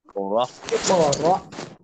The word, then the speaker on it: اقرأ: اقرأ همزة ألف قاف جر حمزة اقرأ را همزة زبر را حمزة اقرأ قبل জি জি اقرأ حمزة ইকরা, সবাই বলেন।